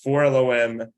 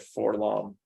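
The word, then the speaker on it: 4-LOM: entire life I said for long and I was corrected by a story group so in general the the the droids are sort of pronounced phonetically so that's you can visualize how they're spelled I guess it's always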